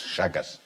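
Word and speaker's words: Chagas: but it's not that how are you spelling this shagas disease ah now that's a good question how you spell it's actually spell c h a g a s shagas I think it's some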